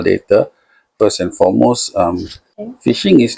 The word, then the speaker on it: phishing: p h i s h i n g, fishing. Pronounced as being One of the methods is that they will send you form.